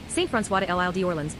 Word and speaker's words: Saint-François de l'Île d'Orléans: Saint-François de l'Île d'Orléans, French pronunciation, Saint-François de l'Île d'Orléans, lit.